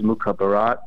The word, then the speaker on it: Mukhabarat: hear it pronounced differently I'm used to it being pronounced as it looks which is mukarat okay okay it's actually